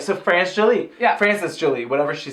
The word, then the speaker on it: France Jolie: they've said and whatever, that is Frances. It's spelled France Jolie. Sure. Like, it's spelled weird. Right, so France Jolie. Yeah. Frances Jolie, whatever she said.